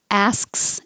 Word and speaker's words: asks: Asks is weird, and yeah, you do have to say SKS.